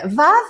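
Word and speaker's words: ו: is V and uh it's like VAV it's like a wow in Arabic language okay this is V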